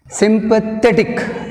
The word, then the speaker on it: sympathetic: Sympathetic, sympathetic, te tick, tick one, te two. Second syllable from the end, we have stress mark.